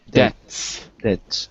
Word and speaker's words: debts: Wait, not, yeah, there's no B. Debts.